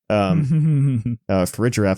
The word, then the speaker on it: Farigiraf: Farigiraf, I have to say it properly.